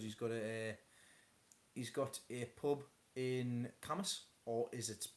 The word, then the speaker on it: Cambois: I've met his nephew a few times because he's got a pub in Camas, or is it pronounced Cambois? It's not Cambois, it's Camas. Just spelled Cambois.